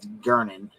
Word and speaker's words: Gernon: Yeah, she calls him Jernon. Yeah. And that's Gernon, right?